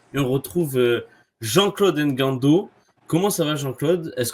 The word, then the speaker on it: Ngando: et cetera en fait c'est quand c'est quand tu as la tu as l'apostrophe faut tu prononces le la lettre devant et quand c'est clé tu tu la prononces pas d'accord ok d'accord ben